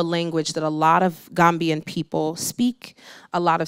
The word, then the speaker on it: Gambia: So a lot of people say the Gambia, and I think that's the proper way to say it, but Gambian people are just like, Gambia. We just say Gambia.